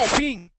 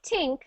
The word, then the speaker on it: think: Think. Good. Think, right? Not tink, but think.